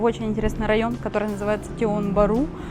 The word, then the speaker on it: Tiong Bahru: интересный район, который называется Тион-Бару, Тион-Бахру, если знаете, так вот по-русски как пишется, так и читается.